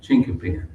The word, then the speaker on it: chinquapin: It's spelled Chinquapin, chinkapin.